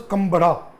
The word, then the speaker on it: Kambala: It's pronounced as Kambada. but spelling is Kambala, Kambala, but in Kannada it is pronounced as Kambada, Kambada.